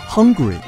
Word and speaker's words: Hungary: 匈牙利英文叫 Hungary，由于和英文的饥饿发音相似，经常被